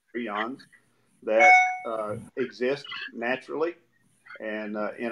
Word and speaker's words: prions: They're not pronounced proteins, but prions that exist naturally and in our nervous system.